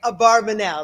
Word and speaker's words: Abarbanel: So if you look at the books, it's Abarbanel, Abravanel, Bravanel, Habravanel, Barbanel. How exactly is it pronounced? So we obviously have the wine over here, but I'm going to go with my Gedolim, who are Shlach Rock, obviously. Oh, man. Oh, yeah. I love the clothing. Oh, they're too good. So I'm going to go with how they say it, Abarbanel. That's how we're going to go with it.